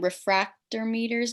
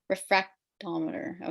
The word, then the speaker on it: refractometer: You guys get the, how do you say it again? Refractor meters down? I see you guys are doing them over there. Refractometer.